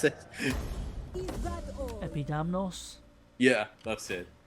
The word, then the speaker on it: Epidamnos: Can you pronounce it? Epidamnos? Yeah, that's it. Epidamnos.